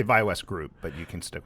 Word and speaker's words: ViaWest: Yes, Did I pronounce that correctly? you did. All right. We say ViaWest Group, but you can stick with ViaWest.